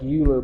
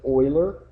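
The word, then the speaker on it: Euler: after the mathematician Oiler looks like uler but you pronounce it Oiler okay and we're going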